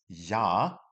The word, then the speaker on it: J: So, for example, number one is yah. That would be a J. So, you're going to green pen there like an absolute legend as well. So, yah would be a J in there.